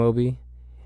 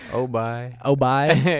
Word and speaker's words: O'bi: Yo, this is Cam Obi, and you're listening to Ambiance podcast.